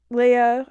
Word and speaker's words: Lia: Leia, I think that's how you pronounce her name. It's spelled Lia.